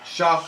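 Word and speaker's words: Shough: Shock. Shock. Yeah, it's pronounced really weird.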